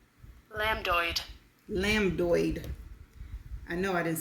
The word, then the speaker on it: lambdoid: And the last word is LAMBDOID. And this is how it's pronounced? Lambdoid.